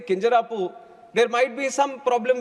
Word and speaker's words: Kinjarapu: My name is Kinjarapu Ram Mohan Naidu, and when some people say Kinjarapu, there might be some problem with them. They can't pronounce it the way I pronounce it.